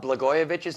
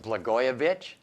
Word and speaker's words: Blagojevich: I didn't even know how to pronounce that the first time I saw it. It threw me, because there's a J in there. Silent, like the P at the beginning of my name.